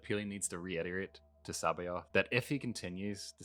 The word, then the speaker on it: C'baoth: No, C'baoth. It's C'baoth. It's spelt C'baoth.